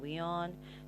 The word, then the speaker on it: WION: Though I just feel like, it should be Wyon. It just sounds, it's Wion. Okay, Wion. They pronounce it, I mean, it's their network and all, but they pronounce it as Weon, okay?